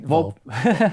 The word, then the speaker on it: Volpe: Volpe.